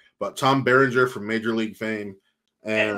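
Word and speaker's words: Berenger: Tom burger or barer from Major League I'm baringer you'll get it out baringer from m I always say it wrong but Tom Beringer from Major League Fame and Inception I forgot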